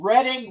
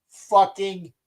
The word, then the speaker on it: Reading: __ ] play Monopoly, it is the goddamn Reading Railroad. It's not the Reading Railroad. It's Reading. It's I know it looks like it says Reading. It looks like you're saying the Reading Railroad. It's the Reading Railroad, please.